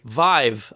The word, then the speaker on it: Vive: Googled it uh uh HTC clarifies it rhymes with five okay Vive all right not VI because you remember like anyway